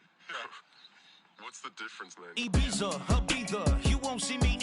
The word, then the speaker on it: Ibiza: I just went to Spain, that's a biffa. Ibiza. Yeah, it's pronounced Ibiza, actually. Yeah. What's the difference, man? Ibiza, Ibiza, you won't see me in neither.